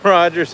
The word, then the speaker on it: Rogers: This is Rogers. It does rhyme with Dodgers.